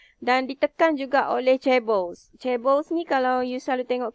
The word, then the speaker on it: chaebols: Chaebols ni kalau you selalu tengok K-pop, drama, saya rasa you tahu.